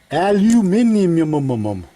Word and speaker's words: aluminum: Aluminium. Aluminium. That's how the way they say it. I say aluminum.